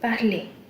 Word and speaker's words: parler: This is one verb which is parler. ER ending will give a sound. The R will not be pronounced like totally. You will hear a sound. Parler.